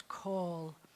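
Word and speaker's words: כל: commot suits and oh the word for all rhymes with all just about its kool kool calming zylle or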